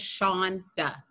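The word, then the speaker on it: Shawnda: Oh, but Alan, the pronunciation of my name is just Shonda. Shonda. Yeah. It's Shonda. W is silent? No, you can hear it. S-H-A-W-N is Sean. Okay. And A is duh.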